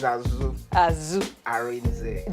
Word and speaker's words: Asuh Arinze: But I know I'm not pronouncing it well, so he's going to teach me how to pronounce it. Asuh Arinze. No. My name is Asuh Arinze Junior.